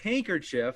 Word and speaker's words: handkerchief: It is because everybody says handkerchief. Yeah, but no one pronounces that D.